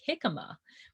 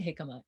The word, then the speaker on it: jicama: you haven't tried before like jicama which is spelt with a j by the way um maybe you've never tried jicama it's amazing you should